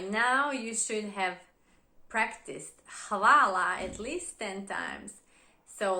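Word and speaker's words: hvala: so I guess they were used to people mispronouncing hawala or koala sounds similar enough so just use koala as a last resort by now you should have practiced Halala at least 10 times so let's just keep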